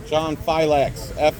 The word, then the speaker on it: Filax: I say it Felix because it sounds cool, but that's how it's spelled. Filax. You know Fila, the brand Fila? Yeah. Put an X on the end.